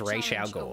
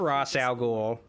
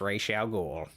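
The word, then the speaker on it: Ra's al Ghul: need to see him the correct way to pronounce Rachelle ghoul's name is Rachel goal it's not raw salgul it's not I know Batman Begins they pronounce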